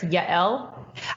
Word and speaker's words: Yael: How do you pronounce it? Sure, it's Yael.